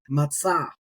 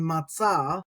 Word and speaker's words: מצא: and we've worked our way down now to matzah.